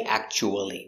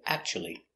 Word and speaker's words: actually: day very good example actually it looks like act but we don't say actually we say actually actually is this cubic